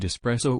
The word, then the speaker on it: espresso: situation to be in show me where the x is in the word espresso or say it properly stop with the daylight